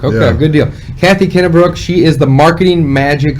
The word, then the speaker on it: Kennebrook: how do you say your last name Middlebrook Kenna Brooke okay good deal Kathy Kenna Brooke she is the marketing magic lady she has